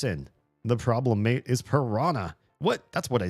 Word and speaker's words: piranha: It's pronounced piranha, right? Technically, I think in American English, everybody just says piranha because they don't know how to handle that h. But I think the nh in um Portuguese is pirania.